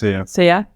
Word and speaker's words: Sia: Is that how you pronounce it? Sia? Sia.